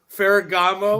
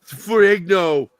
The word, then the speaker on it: Ferrigno: Yeah, he says his name wrong, Ferragamo. That was so fucking It's like, what did he call him? Lou Ferragamo, like the Lou Ferragamo. Ferrigno.